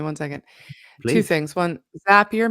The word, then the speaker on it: Zapier: One, Zapier makes you happier. That's true. Definitely. It is spelled Zapier but it's pronounced Zapier like makes like it makes you happier.